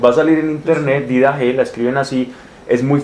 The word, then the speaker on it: didache: En griego se pronuncia didache, que significa enseñanza.